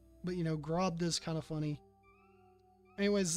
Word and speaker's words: Grobda: Anyways, Grobda. That is apparently how it's pronounced. But, you know, Grobda is kind of funny.